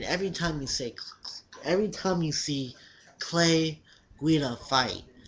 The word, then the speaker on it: Guida: I'm saying it right now. Guida. My other videos I said Guida. It's Guida.